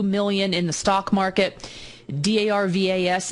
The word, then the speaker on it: Darvas: Darvas is how you pronounce his name if you want to go on Amazon and look him up.